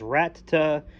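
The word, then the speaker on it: Rattata: is a pokemon of the same category as rata yes that's how you pronounce it there is an extra t after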